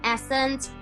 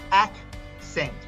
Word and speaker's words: accent: when you say it it sounds like it's a s e n t where it's ack sent so just even little